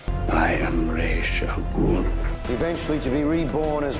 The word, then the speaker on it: Ra's al Ghul: saying his name is the much more common pronunciation. I am Ra's al Ghul.